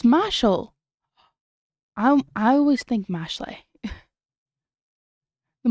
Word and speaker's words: Mashle: Is it Mashal or Mashley? Oh, as in the word muscle. It's Mashal.